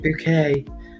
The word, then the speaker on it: Bucket: but it's actually pronounced it's actually spelt bucket but she pronounces it bouquet um because she's bosh